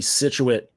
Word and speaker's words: Scituate: They play against, so this is a Massachusetts school where I don't really know the pronunciation of this one. Falmouth. Okay, I was way off on that one. I got Scituate right though, so I'm good on that one.